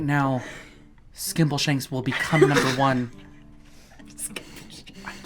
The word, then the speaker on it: Skimbleshanks: But if we don't get the milk right now, Skimbleshanks will become number one. I'm sorry, did I pronounce that right?